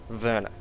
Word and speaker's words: Werner: guy's name if you're it's spelt Werner it's a German origin so it should be pronounced verner anyone who knows about